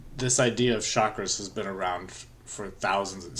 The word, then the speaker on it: chakra: And by the way, chakra is a complete mispronunciation of chakra. So, really, it's not chalk, it's not chakra, it's chuck. Like you're gonna chuck something, like throwing something, you're gonna chuck it. So, it's chakra.